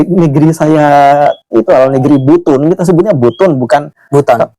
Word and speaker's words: Butun: Jadi orang-orang Nusantaranya menyebut pulau itu sebenarnya Pulau Butun. Jadi bukan Butun apa, tapi disebutnya Butun atau Butu. Gitu. Jadi kalau pengucapan orang-orang sana sebutnya dulu itu Butu gitu. Itu di awal-awal.